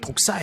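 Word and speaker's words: δόξα: 헬라 말해 뱀을 얘기하는 게 아니에요 그 약 발음이 독사 요 그 영화롭게 하다는 독사 주어 이렇게 돼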